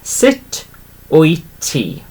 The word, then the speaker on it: Sut wyt ti: So sit as in sit and, you know, get up. So sit on the sofa. So same sort of pronunciation there. Sut wyt ti?